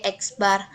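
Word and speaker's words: x̄: keduanya yaitu sampel diwakili oleh huruf x diucapkan sebagai eksbar disisi lain rata-rata populasi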